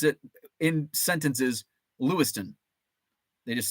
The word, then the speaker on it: Lewistown: it's spelled Lewis town it's pronounced Lewiston but you have to say it really fast like Louisville it's Lewiston lewston um